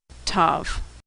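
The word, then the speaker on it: Tav: sound as in tango now some older Jews in Orthodox Jews will pronounce this letter as an S sound if it doesn't have a dot inside but most people pronounce it as T with or without the dot Tov now I know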